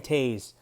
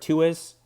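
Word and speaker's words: Toews: they pronounce his name i've heard tuis toes uh t t u's twos but it's just it's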